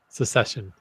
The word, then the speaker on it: secession: So A succession or a secession? secession. Okay. I always do that. I always put the hard C in there.